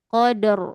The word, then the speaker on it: Qadr: inna anzalnahu fi lailatil qadr inna anzahu fiilatulq ya perhatikan akhwat qadr ya kan kita sudah pernah belajar ro yang